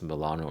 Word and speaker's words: Milan: By the way, I also want to talk about the way that you pronounce Milano, right? Cuz Americans usually don't say Milano, they say Milan.